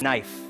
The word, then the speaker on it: knife: big account this is knife knife is the letter K is not pronounced you say Knife Only pull a knife